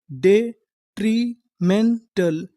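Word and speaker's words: detrimental: डेट्री एम एन मैन टी ए एल टल तो पूरी मीनिंग क्या बनी डेट्रीमेंटल डेट्रिमेंटल डेट्रिमेंटल डेट्रिमेंटल का मतलब होता है हानिकारक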